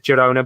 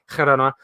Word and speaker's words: Girona: I think you properly pronounce it. Everybody says Girona, but pronounce it properly. Girona.